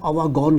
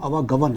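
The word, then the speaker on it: आवागमन: को समझते हैं तो वो आवागन को आवागन कहते हैं। दो दफा उन्होंने प्रोग्राम में अपने आवागन कहा जबकि उसका सही प्रोनाउंसिएशन आवागवन है।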